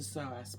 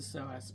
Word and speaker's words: psoas: Balances the soass muscle.